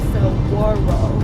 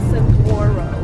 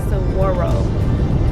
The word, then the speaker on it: saguaro: They're pronounced, I guess here, saguaro, not saguaro with a G. It's like saguaro.